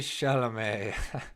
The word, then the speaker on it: Chalamet: Timothy Chalamet with an accent on the E, as my dad would say.